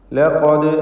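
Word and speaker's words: لقد: ലഖദ് അൻസൽനാ, ഇവിടെ ലഖദ് എന്ന് പറയുമ്പോൾ ഖാഫിന് തഫ്ഖീം കൊടുക്കേണ്ടതാണ്. തടിപ്പിച്ച് സ്വരഭാരത്തോടെ ഉച്ചരിക്കേണ്ട അക്ഷരമാണ് ഖാഫ്. ദാലിൻ്റെ സുക്കൂൻ ഖൽഖല സുഗ്റ നൽകി ശബ്ദം ഹറക്കത്ത് പോലെ ചലിപ്പിക്കണം.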